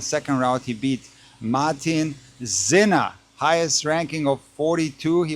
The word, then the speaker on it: Sinner: And by the way, that's how you say zena. So this leads me to believe that you actually say yanik zena and not sinner.